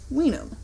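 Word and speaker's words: vinum: Julius tides are finally Latin does not have a w instead we had the sound of a w thus the Latin word for wine which is spelled me I and um is pronounced we know now I want to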